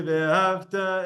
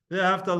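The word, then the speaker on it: ואהבת: So the song where the kids read and say ve'ahavta etash. Okay, so on first word, wrong. Just from the beginning of the song, wrong. Ve'ahavta loved. Ve'ahavta, the pronunciation should be on the top.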